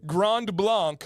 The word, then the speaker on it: Grand Blanc: a fractionated version of it how do you pronounce Grand Blanc Grand Blanc H is this Dam from Grand Blanc so